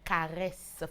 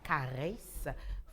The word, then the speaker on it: Kareyce: Donc, je disais qu'elle s'appelle Caresse Fotso, ça s'écrit Kareyce pour Caresse Fotso, camerounaise, en belle ouais.